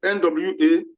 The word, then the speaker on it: Nwambe: Just like in the case of Nwambe and the State, Nwambe is spelled N-W-A-M-B-E, Nwambe.